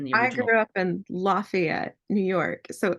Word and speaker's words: Lafayette: that you're in in Louisiana oh we say Lafayette so it is named after the Marquee de Lafayette uh of Hamilton Fame played by digs in the I grew up in Lafayette New York so it's funny perfect there's also